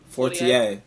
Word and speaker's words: Fortier: But I want to talk about, how do you pronounce her last name? Coach Fortier? Fortier.